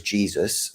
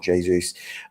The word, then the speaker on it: Jesus: So I think at a minimum, you know, Jesus is going to be or apparently is Jesus is how it's pronounced, not Jesus.